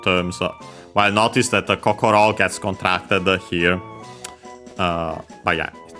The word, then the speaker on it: kokoro: Kokochi actually comes from first and foremost kokoro, accent on the last mora on its own, which means heart, mind, spirit.